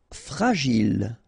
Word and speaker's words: fragile: Fragile, okay, final E not pronounced, and then when you get this G and I, J, Gilles, fragile.